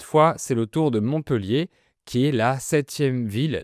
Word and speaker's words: Montpellier: Théoriquement, on doit prononcer Montpellier parce qu'il y a deux lettres L après le E. Mais la majorité des gens prononcent Montpellier, même certains locaux.